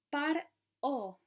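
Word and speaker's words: פרעה: Lo que dice aquí en hebreo es par-o, que es la forma en que sonaría este término per-a-a.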